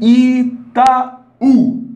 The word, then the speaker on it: Itaú: E Itaú, isso aqui é mais forte, né? Então, as 3 palavras trazem a sílaba tônica na última posição.